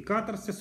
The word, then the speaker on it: катарсис: искусство катарсис или очищения помните что словах my master и катарсис ударение на первом слоге очищение по видимости это